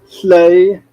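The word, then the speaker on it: Lleu: the kid's name is the kid's name is play that's l-l-e-u this name is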